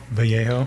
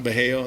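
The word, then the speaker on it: Vallejo: And then Boris, maybe you'll know this how to pronounce it, Boris Valho. Balaho. Bejo. Bejo.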